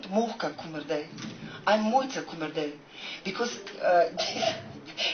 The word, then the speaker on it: Mojca: Sí, otra cosa del español, que su nombre se pronuncia Mojca, porque en esloveno las J son I.